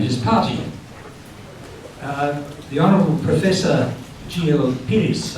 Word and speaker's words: Peiris: The Honourable Professor Peiris, I think that's how it's pronounced, it's Portuguese, P-E-I-R-I-S, yeah.